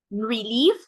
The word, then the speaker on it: relief: Relief, we have the stress at the end, right?